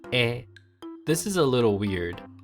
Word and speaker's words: へ: of which two hirana ha and he are pronounced differently when used as grammar words ha becomes wa and he becomes e this is a little